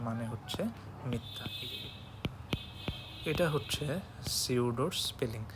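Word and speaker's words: pseudo: এটা হচ্ছে সিউডোর স্পেলিং। এটা আবার আপনারা কেউ পিসিউডো করেন না ভাব নিয়ে, এটা কিন্তু আসলে উচ্চারণ সিউডো, পিটা অমিটেড থাকবে।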